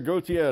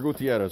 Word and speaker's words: Gutierrez: is going to be from victor Gotye this Victor Gutierrez so finally pronouncing your name correctly Victor Gutierrez has got